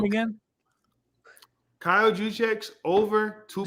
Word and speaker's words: Juszczyk: Kyle Juszczyk, how do we pronounce his name? Juszczyk. Over 2.5 receiving yards.